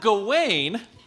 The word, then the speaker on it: Gawain: is gawaine hot all right looked up the pronunciation so gawaine at the beginning of the green night just